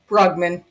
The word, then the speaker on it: Brugman: Do you say Buggman or Bergman? Buggman. Good. Okay. Okay, I want to make sure I'm pronouncing that correctly.